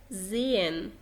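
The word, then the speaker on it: sehen: طيب خلينا ندخل على القاعدة التانية، وهو بيقولك إذا جاء حرف الإس بعده حرف متحرك ينطق ز. ز. غير كده دايما بينطق سين عادي. طيب الحروف المتحركة أنا كتبت بعض منهم طبعا زائد الأملاط واللي احنا كنا لسه شايفينهم فوق. بينطق ز. زين أو ز، الزد بالإنجلش، زي زين. زين.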